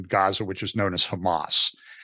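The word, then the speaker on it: חמס: And in the verse that says, for violence against your brothers, the pronunciation of the Hebrew word for violence there is Hamas.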